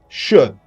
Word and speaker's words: should: well done now everyone the sound L is not pronounced should would could as you can see L is not pronounced L is silence okay you're doing great